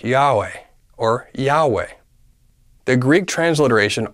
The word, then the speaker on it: Yahweh: out these four vowels Yahweh the first two ya are equivalent to this syllable yeah the last two 'we are equal to the syllable way when all vowels are pronounced together it sounds like Yahweh